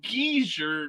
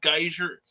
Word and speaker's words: geyser: pronounced it wrong what it's geezer not geyser well that's the way